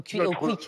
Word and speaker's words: Quick: oui oui j'ai compris parce que Roger prononce à la nordist he ça c'est ri aussi ouais rier aussi dit il dit U à la place de ou mais mais voilà donc